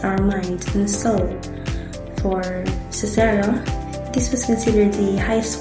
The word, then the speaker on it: Cicero: According to Marcus Louis Cicero or Cicero in Latin pronunciation, culture is basically the cultivation of the soul, or what they call the cultura animi.